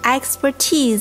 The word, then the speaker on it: expertise: 那 expertise 这个词的发音重音